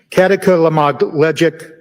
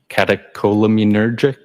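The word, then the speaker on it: catecholaminergic: Um, katakamogleic tacocardia. I probably butchered that up. Does that ring a bell? Uh, katakolamunergic.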